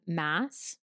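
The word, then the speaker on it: Maas: mist and fury um by Sarah Mass I think is how you pronounce her last name M as but um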